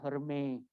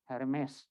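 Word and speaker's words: Hermès: kirinya ada tas Hermes asli ini makanya bacanya Heroes Day gitu bukan RMS bukan teknik Aris yang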